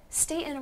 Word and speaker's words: Staten: So Brad Rohr and Chuck, Staten rhymes with Satan.